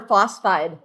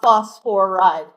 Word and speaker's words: phosphide: Phosphorus phosphoride or phosphide? Phosphide, two syllables. Not phosphoride, three syllables.